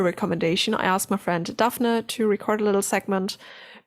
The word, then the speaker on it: Daphne: All right, we'll turn it over to Daphne. Is that how you pronounce it? Yes, It's different. Here we would say Daphne, but that's American. she's Dutch. Hey, my name is Daphne.